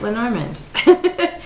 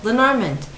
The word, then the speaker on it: Lenormand: the grain i caught lenormand i think this is the english pronunciation and since i speak